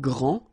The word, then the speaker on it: grand: that this first form here for the masculine gr so you don't pronounce the final day will be exactly the